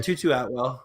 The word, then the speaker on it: Tutu Atwell: Tutu Atwell is his name.